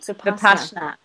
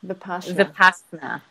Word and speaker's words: Vipassana: Vipassana. Say that again. Vipassana. Anyone want to spell it?